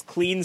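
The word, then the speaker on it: Kleene: claney star or this clean star or queenie star if you say any of those everyone will know what you're talking about but some people are gonna claim that one is the actual correct pronunciation and shame you for using the one that they don't prefer if i do the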